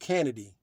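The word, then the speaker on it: Canidae: an enunciation or pronunciation proper kennedy okay it's pronounced kennedy kennedy so it's kennedy right and that is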